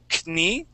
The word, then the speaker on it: knee: So instead of saying knee, yeah. Okay, we say knee. Knee. It starts off with yes. An N sound, knee. Okay, it's voiceless. Mm-hmm. Okay, knee. Okay, the K is silent.